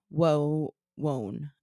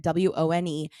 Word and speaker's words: Wone: Wone, I think is how you pronounce it. Wone.